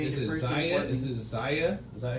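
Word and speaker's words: Xaia: Is it Zia?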